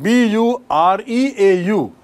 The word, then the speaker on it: bureau: See the spelling of the word bureaucrat. B-U-R-E-A-U. But pronunciation is bureau. B-U-R-E-A-U. Pronunciation uchcharan jo hai wo bureau hai.